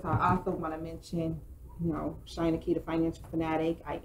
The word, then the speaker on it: Shynna: It's Shynna, so it's China, but with an S.